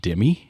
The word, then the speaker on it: Demme: We decided Jonathan Demme is how you say it.